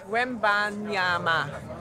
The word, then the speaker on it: Wembanyama: Wembanyama? Wembanyama? Maybe? No? How you say it? Wembanyama? Wembanyama.